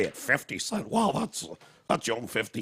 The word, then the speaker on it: 50 Cent: oh white people okay should always clearly pronounce 50 Cent he's not fitty for you again this